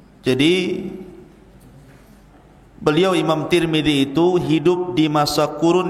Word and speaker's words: Tirmidzi: kota sebuah daerah dan ada yang kemudian membacanya tarmid ada tirmid jadi ada sebagian dalam mengatakan Imam tarmadi ada yang mengatakan Imam tur movie ada yang mengatakan Imam Tirmidzi walaupun yang masyhur adalah Imam Tirmidzi dan itu yang dikuatkan